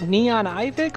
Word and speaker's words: Neonivik: So is it Neon Ivic or is it Neo Nivik? Neonivik, technically, but I don't mind how people pronounce my name.